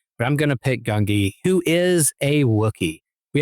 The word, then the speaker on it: Gungi: My Star Wars Padawan or apprentice is going to be Gungi.